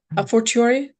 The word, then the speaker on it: a fortiori: A fortiori?